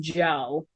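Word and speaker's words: Djo: He goes by uh DJ which is pronounced Joe.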